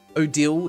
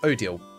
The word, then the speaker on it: Odile: Odile is how it's pronounced. Thank you, Mishtastic. Odile it should be. Like ideal, but Odile.